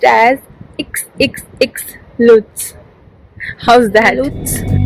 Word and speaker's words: XXXLutz: uh like tell me so it will be pronounced as xxx lutz how's that looks so add these